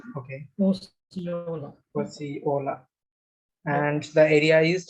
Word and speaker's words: Osceola: I don't know how to pronounce it. Osceola. Osceola. Okay. Osceola.